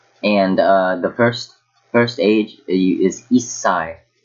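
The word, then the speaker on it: 一歳: So I've said this small su in the first ever lesson. It means you have to wait a little bit before saying the next syllable. So it's Issai. So it'll be two S's.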